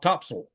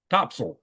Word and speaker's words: Topsail Beach: The locals all call it Topsail. Topsail.